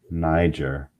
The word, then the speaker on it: Niger: simeon i was called niger say correctly you know it's not it's greek there is no soft g in greek there were in the